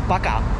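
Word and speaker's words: バカ: and of course parker it's not like parker in japanese it's baka baka no r sound if you say that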